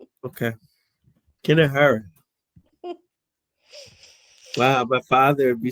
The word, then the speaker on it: kinahora: I pronounce it Kinahara. Oh, let's see what the pronunciation is. Let's see if we can do this. Okay. No. Hold on. Yeah, we're getting it. Okay. Like before this. Kinahora.